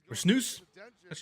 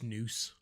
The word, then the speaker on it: snus: not not I use the Snus snoo you pronounce snoo what a early back